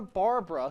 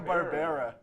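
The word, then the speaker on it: Barbera: was animated by Hannah Barbara who did The Flintstones and the jet six that does look like Hannah yeah what is that not how it's pronounced Hannah barara oh jeez well okay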